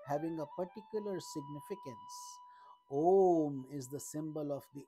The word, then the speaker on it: Om: symbol of the absolute when you pronounce om spelled in Sanskrit as a-u-m with a the mouth is open the sound comes from the bottom of your throat with you the sound